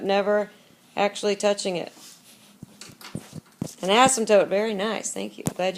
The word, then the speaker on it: asymptote: An asymptote. Very nice. Thank you. Glad you remembered that. Let's see if we remember how to spell it. Remember that silent P in there?